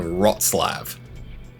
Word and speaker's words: Wrocław: You'll drive along and you yes, you can discover locations like Paris, Berlin or hell, maybe even Wrocław. Yes, that's how that place is pronounced.